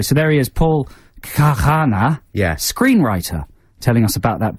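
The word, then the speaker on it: Khanna: How would you pronounce it, you mean? Yes, sorry, pronounce it. Kahana. Kahana.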